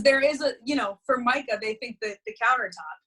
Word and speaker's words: Formica: i thought your dad and your mom mariah for micah you know that was but mariah formica sounds perfect so i almost don't even blame people because there is a you know for micah they think that the countertop you know right